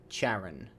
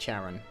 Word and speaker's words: Charon: password to the door is Caron I voice pronounced that word Charon what's Karen Hayes's idea Clara Hayes Anders Rebecca